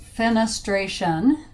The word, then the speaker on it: fenestration: The word is fenestration, pronounced fenestration, and it means an opening.